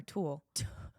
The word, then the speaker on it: tulle: Just say it like you would say a hammer. Tool.